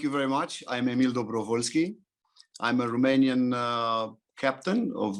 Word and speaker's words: Dobrovolschi: apologize because i wish i was better at pronouncing nicks emil hello everyone thank you very much i'm emil dobrovolsky i'm a romanian captain of the romanian national